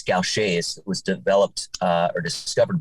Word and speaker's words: Gaucher's: the rarest genetic diseases in the world the pronunciation is a little unusual it's gaucher's it was developed or discovered by a french